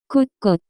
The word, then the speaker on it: 곳곳: 곳곳, Here and there, everywhere. The pronunciation of this word is closer to. 곳곳, Common usages: 방방곳곳.